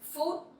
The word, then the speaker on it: phút: Next one is phút. Phút. Food. So PH sound you pronounce like F sound in English, and it sounds similar with food, right?